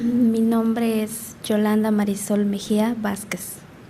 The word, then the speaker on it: Mejía: Okay, last name Mejia, Mesia? Apellido Mejia. Mejía. Mejia. Mejia. Can you spell that for me?